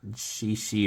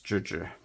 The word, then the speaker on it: Zhizhi: That's how you pronounce it, by the way. I might be doing the tones a little wrong, but it's not she or whatever I hear a lot of people say. It's Zhizhi. Maris.